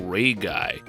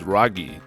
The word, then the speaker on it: Raguy: geocd version is adcd000 based on the spelling you might be tempted to pronounce the japanese title ray guy i mean after all